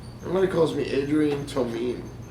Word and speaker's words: Tomine: It's Tomine.